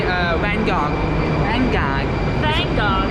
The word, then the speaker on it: Van Gogh: How do you say Van Gogh?